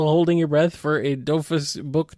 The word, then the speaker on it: Dofus: Is it Dofus or is it Doofus or what? Am I saying it wrong? It's Dofu. Tofu. Oh, yeah. Okay. It's French. You don't pronounce the S.